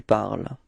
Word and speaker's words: parles: parle and tu parles, even if there is a small difference in the writing because you've got this final S for tu, it is the same pronunciation. So it's je parle and tu parles.